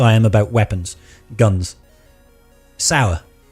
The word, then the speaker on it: Sauer: Sour. Okay, so it's a SIG sauer. Because it's spelled S-A-U-E-R or something like that? SIG sauer. SIG sauer.